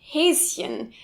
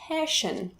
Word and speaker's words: Häschen: German language, such as Häschen, little bunny. This looks like a sh, but actually the syllable ends after Häs. So of course many Americans fall for it, pronouncing it Häschen.